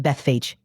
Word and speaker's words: Bethphage: It's usually pronounced Bethphage.